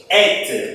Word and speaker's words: et: Então, eu já chamo a atenção para a pronúncia dessa palavra aqui, que é o et. Então, vocês não vão ler mais ET. ET é o extraterrestre, né, gente? Aqui nós temos o et.